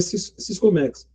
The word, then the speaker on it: Siscomex: Não tem acento, né? Então é Siscomex.